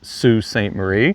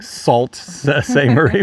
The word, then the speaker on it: Sault Ste. Marie: yes it is pronounced Sault Ste Marie it's spelled what you might say like salts say Marie but but it is Sue this is a Charming